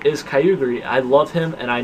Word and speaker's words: Kyogre: I love him, and I know you guys are going to hate on me for saying Kyogre. You're going to say, oh no, it's Kyogre, or whatever. No, Kyogre. I don't care. I say Kyogre. That's how I pronounce it. That's how I will always pronounce it.